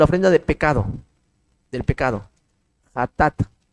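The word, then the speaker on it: חטאת: de pecado del pecado jat J así se pronuncia J a t a tat jat J a t a t hatat y está en levítico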